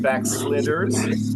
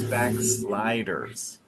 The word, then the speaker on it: backsliders: is a slider, and so you pronounce the open I. So I think you said backsliders, but it's backsliders.